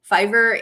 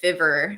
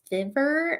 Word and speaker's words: Fiverr: the other thing is everyone calls it fiver if you like aren't knowing how to say it and they're like you work on a site called fever and it just sounds so stupid it's like no that's so gross sounding um but yeah i